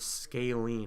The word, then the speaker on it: scalene: Pronounce that word scalene.